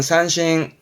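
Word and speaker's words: 三振: 많이 쓰지 않나요 그렇죠 세 번 휘두른 겁니다 발음은 산신 산신 세 번 휘둘렀다 그러니까이 떨칠 진짜가 휘두름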